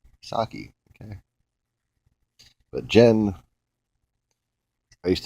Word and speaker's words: Psaki: s a k uh I guess that P just the peace silence sake okay but Jen I